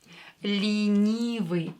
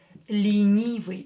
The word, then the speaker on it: ленивый: Ленивый. E here is not stressed, so we are going to pronounce it as E. Ленивый.